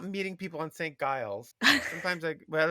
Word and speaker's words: Giles: Gil, Gil, Gilgan, Gilgian, Gills, uh, Ilgen, and Gilg. So, so Giles is the most normal pronunciation we've got.